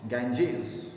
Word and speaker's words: Ganges: In Hindi we usually call it Ganga, but in English we pronounce it Ganges.